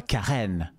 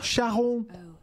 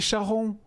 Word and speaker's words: Charon: C'est fidèle à votre description, mais votre prononciation n'est pas la bonne. Le nom que vous avez entendu n'est pas Karen. Oh, Charon! C'est Charon!